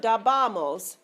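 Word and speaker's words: dábamos: Because it's got that accent, see? This is very important. The reason for that is so that you pronounce it correctly. Okay, it's not dabamos, but dabamos. In Spanish, usually the accent on a multisyllabic word is going to be on the 3rd syllable from the end.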